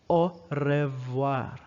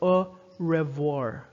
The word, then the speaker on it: au revoir: r english r is o revoir it's not that it's french r is uh notice that the r vibrates in the throat goodbye see you later